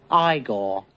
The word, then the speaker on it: Igor: No, it's pronounced Igore. But they told me it was Eigor.